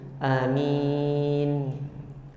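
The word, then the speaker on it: آمّين: Pelafalannya itu dengan ee mentasydidkan ee mim. Jadi hamzahnya dimadkan, mimnya dimadkan, kemudian ditahan ee pengucapannya itu di huruf mim.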